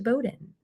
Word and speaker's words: Bowdoin: It is one of our very, very early founders, but is this kind of interestingly spelled name, but it's pronounced Bowdoin, like explodin'.